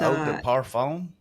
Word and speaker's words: eau de parfum: I'm part redneck, so I can't pronounce that. I don't. Eau de parfum. It's Eau de parfum.